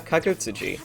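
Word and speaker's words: Kagutsuchi: Izanagi when he slew the newborn fire god, Kagutsuji. Wait, Yeah, Kagutsuji.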